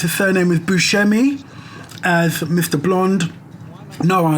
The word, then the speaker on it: Buscemi: Blonde, Steve, I think you pronounce his surname as Buscemi, as Mr.